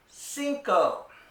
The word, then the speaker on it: cinco: is cuatro cuatro and finally number five is Cinco Cinco and now you can already count to